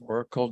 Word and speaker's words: Auricle: And that's spelled AURICLE Collective, Oracle Collective.